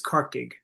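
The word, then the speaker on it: Corcaigh: Uh well no the the Gaelic word for the Irish word for it is corkig which means a marshy place because cork is built on a bog basically.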